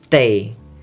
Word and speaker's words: 得: Tei. Ini bacanya tei, bukan te kalau di kalimat sini.